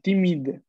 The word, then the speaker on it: timide: Mais parfois, l'avais dit bien la première fois, parfois, il est timide. Timide. No, la prononciation, c'est para quien la D. No, la E, recuerda que es muda.